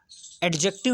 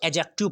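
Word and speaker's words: adjective: जैसे एडजेक्टिव होता है ना, एडजेक्टिव, तो इसको जो है भैया, इसको एडजेक्टिव नहीं पढ़ते हैं, क्या पढ़ते हैं, इसको एजेक्टिव पढ़ते हैं। डी जो होता है इसका साइलेंट रहता है, वैसे इसमें भी डी साइलेंट रहेगा, एजेसेंट होगा।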